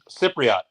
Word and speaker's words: Cypriot: someone help me out there read it cyot cypriot cypriot what does that mean cyborg Cyprus oh